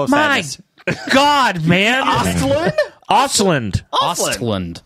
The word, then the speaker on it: Östlund: Östlund? Östlund. Östlund. Yeah, you, you threw an A in the middle. Östlund. No, I don't think you I did. Added a syllable.